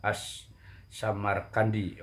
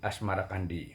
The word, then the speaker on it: as-Samarqandi: Tanah Jawi versi meinsma menyebutnya asmarakandi mengikuti pengucapan lidah Jawa terhadap as-samarqandi Oke berubah menjadi asmarakandi Maulana Malik Ibrahim kadang juga